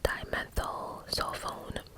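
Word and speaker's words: dimethyl sulfone: to pronounce that real quick hold on it's pronounced dimethyl cell phone so fun anyway it's it's spelled d-i-m-e-t-h-y-l then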